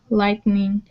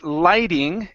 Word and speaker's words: lighting: current power tools televisions lightning and air conditioning okay very good all right let's go to this word here okay now this is going to be Lighting in instead of lightning okay lightning uh is